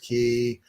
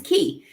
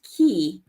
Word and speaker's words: cay: you pronounce it is key and we've argued over Coco K because even the song says Coco okay but c-a-y is pronounced key in the Bahamas your sister has joined